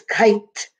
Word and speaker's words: kite: hear anything else no so it's a silent e if you didn't put it it would be kicked I have a cousin aid kit we call her kit but it's kite that's why the silent e is so important let's read our words